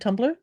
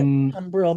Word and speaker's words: tumbril: Can you tell me about the word tumbler? Or how do you say Yeah, we it? can. Yeah, we can definitely talk about that. Yeah. Yeah, tumbril.